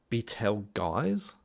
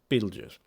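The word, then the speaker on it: Betelgeuse: Um, and by the way, he keeps on calling this star Betel guys. Betel guys or something like that. I mean, what the Beetle guys. It's Beetlejuice. Pronounce it right. Beetlejuice.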